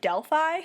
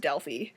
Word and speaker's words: Delphi: And also they keep pronouncing the city of Delphi wrong. Because they keep pronouncing it Delphi, which is, like, fine. I think that's how the English pronounce it, but in the actual Greek language, it's pronounced Delphi.